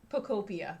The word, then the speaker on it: Pokopia: Pokopia.